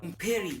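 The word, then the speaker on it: hombre: يعني ايه رجل بالاسباني اوم بيري الاتش ما بتتنطق اوم بيري طبعا هيجيلك واحد تافه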